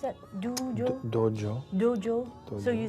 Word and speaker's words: dojo: How do you pronounce that? Dojo?